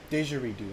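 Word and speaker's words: didgeridoo: it's an instrument pronunciation D redo okay so that g or that DG was right it was a j diero okay that's that's difficult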